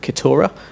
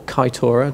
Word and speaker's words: Kitura: been writing which is called Kora or kitora depending on your pronunciation Choice um quick introduction to